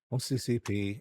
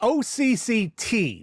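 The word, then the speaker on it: OCCT: I I OCCP. Is that Yeah. No. What is it? The benchmark. I always get the name wrong. It's not It's OCCCT, not P.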